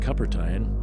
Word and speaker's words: Cupertine: Making sense of things became increasingly difficult because every time Exo Cupertine, rhymes with supper time, showed up, he told me more and more of my own history.